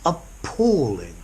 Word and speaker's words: appalling: pronunciation of this word I know it begins with a but it's a schwa sound Oh Paul Paul okay the traffic this evening was appalling it took me hours